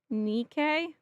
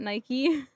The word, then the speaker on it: NIKKE: But, um, Nike is pronounced Nikke. Oh, not Nike.